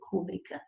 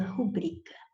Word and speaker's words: rubrica: Não raras vezes ouvimos as pessoas falando rúbrica. Ah, posso pôr minha rúbrica? Não, por favor, põe a sua rubrica, tá bom? Ou seja, esta palavra tem a sílaba tônica aqui, ó, no bri. Ela não é proparoxítona, ela é paroxítona, é rubrica.